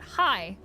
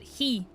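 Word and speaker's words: haigh: Like um for example, the the word for hi is h a i g h and half of the people pronounce it hi and then one guy pronounces it he and I get confused every time.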